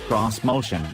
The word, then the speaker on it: Xmotion: 2020 onward this motion which Nissan insists should be pronounced cross motion is a sturdily pen